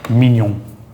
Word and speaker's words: mignon: GN is almost always nya, nya, nya. Like, as we know in English, we get the word mignon, mignon. Like filet mignon, or like in filet mignon.